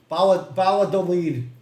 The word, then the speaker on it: Valladolid: Valladolid. Brooklyn guy doesn't know that the two L's are pronounced like a Y, so he's going to say Valladolid.